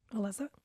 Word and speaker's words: Alyssa: Elyssa. I'm sure it's Alyssa. Alyssa. Just spelled with a Y.